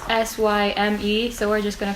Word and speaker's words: Syme: We don't know how to pronounce his name. It's Syme, so we're just gonna call him Sim.